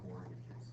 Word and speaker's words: mortgages: Why is there a T in mortgages that no one pronounces?